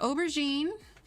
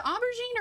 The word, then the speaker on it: aubergine: what purple is okay i say ob like aubrey but i could be